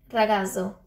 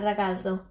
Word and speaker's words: ragazzo: Ragazzo. Yeah, like that, ragazzo. You don't really pronounce the Z, so.